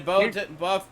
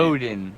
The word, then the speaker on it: Bowden: Thanks, Bowton, Bowton. Oh, hey, Sorry, nice. I butchered your last name. Bowden.